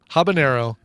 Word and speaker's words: habanero: does have an Ena habanero does not so it's habanero jalapeno well I like